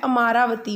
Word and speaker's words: अमरावती: ही magnificent रूपा है अमरावती में बोलते हैं अमरावती बट स्पेलिंग याद करने के लिए हमारा बत्ती और यह कब बना